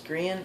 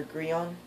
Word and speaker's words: Grian: there is this YouTuber his name is grian or grion you can pronounce it either way he plays on the